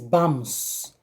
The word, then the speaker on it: vamos: So when we see something like vamos, it's spelled vamos, but in pronunciation it is vamos.